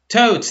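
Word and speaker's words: taught: engine went totes thank you so much teach is tote so tau ght the G H is not pronounced here we have ran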